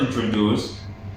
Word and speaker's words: introduce: example the word introduce the word introduced is pronounced with stress at the end so it sounds like introduce introduce there is a stress at the end of the word sometimes where you put